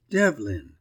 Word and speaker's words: Devlin: name sir I said Dev said he Dev what I gasped Lyn said he Devlin I'll spell it for you d v l i n have you got it